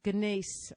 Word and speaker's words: gneiss: I don't even know how to pronounce this. It's gneiss, the kind of rock, and it's not volcanic, but it's not limestone.